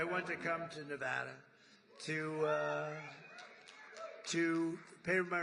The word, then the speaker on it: Nevada: heard of it and don't ever mispronounce the name you're not allowed to do that you you mispronounce the name you got a problem you ever see somebody when they say it's Nevada Nevada no they're they're in deep they're in deep trouble I I want to